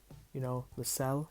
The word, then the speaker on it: Lascelles: If I had to say Newcastle's key men, Dwight Gale, Hosselu, Lascelles, that's how you pronounce his name, the defender as well.